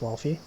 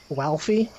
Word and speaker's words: Walfie: Can't believe no one has ever pronounced Wolfie correctly. Look, Amelia Watson always pronounces it as Walfie. Not Wolfie, Walfie.